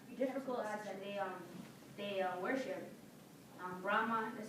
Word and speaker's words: Brahma: Brahma, did I say that right?